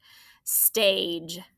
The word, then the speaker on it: stage: We have long A, but here our spelling option is the J sound, right? Stage. What's making that A say A, its long name? Right, a silent E at the end.